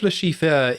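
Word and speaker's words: Le Chiffre: were pronouncing it is Lashifur." Uh, but they just I then was like, "No, it's Lashif."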